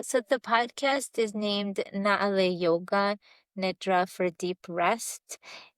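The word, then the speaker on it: Naaleh: Yeah, so the podcast is named Naale Yoga Nidra for deep rest, and it's spelled Naaleeh.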